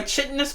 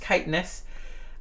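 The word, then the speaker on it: chitinous: they are covered by chitus plating I'm sorry kitness that's that's that's pronounced kitness uh and leathery and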